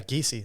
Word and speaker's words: Giesey: Yeah, Giesey. That's the way you pronounce it.